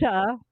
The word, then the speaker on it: Porsche: Okay, first of all, that's Porsche, not Porsche. It's Porsche.